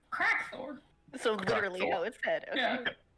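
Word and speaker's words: Krakthorr: name give them the word quack Thor okay spell that Cherokee k-r-a-k t h o r r crack Thor so literally yeah crack Thor two eyes at the end got it does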